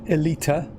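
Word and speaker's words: Aelita: here without falling off elite russian pronounced elita oh i kind of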